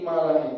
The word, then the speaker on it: imalah: Kalau aslinya imalah itu ma bainal fathah wal kasrah, yaitu pengucapan antara fathah dan kasrah. Contohnya gini, antara fathah itu kan A, antara fathah dan kasrah itu I, antara A dan I tengah-tengah E.